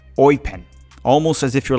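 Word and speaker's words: Eupen: red card for teaching me how to properly pronounce the name of the club that Gabrielle sonina currently plays I've been calling it upen but he taught me and here it goes It's called oen almost as if you're like a pirate saying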